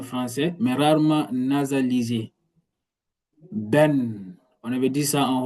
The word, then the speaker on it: ben: Ben, on avait dit ça en haut. Ben qui signifie moi se prononce ben on écrit ben ben se prononce